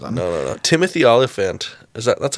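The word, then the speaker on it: Timothy Olyphant: spend 20 seconds on it no no no Timothy olifant is that that's how you say his name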